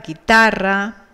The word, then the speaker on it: guitarra: Para que suene ge y gi, nosotros escribimos una u que no pronunciamos, ¿verdad? Como en guerra, en guitarra, entonces lleva esa u.